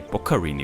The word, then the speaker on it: Boccarini: Okay, Boccarini wird ausgesprochen.